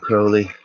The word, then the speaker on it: Crowley: Yeah, so tonight we're live talking about Crowley, rhymes with holy, Pederabo, frater something.